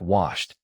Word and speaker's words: washed: Check washed. Wash ends with SH, which is voiceless. The past form finishes with t, so say washed with one syllable.